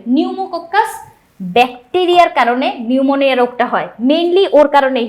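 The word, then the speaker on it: pneumonia: তুমি যদি এন লিখে ফেলো তারপর উনারা দেখবেও না বুঝবে যে তুমি পারো না। কিন্তু যদি পি দাও তাহলে বুঝবে যে হ্যা ঠিক আছে। তাহলে সাইলেন্ট একটা পি থাকবে।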